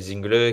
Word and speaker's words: Zingle: C'est pas Axel Zingle, c'est Axel Zingl.